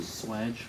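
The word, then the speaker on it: swage: piece that reduces down Swedge Swedge can you spell it s w e d g e no no no oh s SW a g e yeah it's got a different spelling Swedge swge West a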